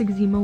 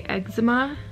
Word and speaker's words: eczema: I think it's just like a Canadian versus American thing, because I know some people in the States who say eczema, and I've just always grown up saying eczema, and the doctors around me have said eczema.